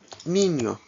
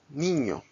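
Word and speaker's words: niño: in the English alphabet this is pronounced like the in-i combination in the word onion Nino manana anyo banyo oh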